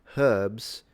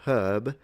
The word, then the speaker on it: herb: If you think about it, even today in in England, the H is fully pronounced in herbs or herb, but it's gone in the American herb.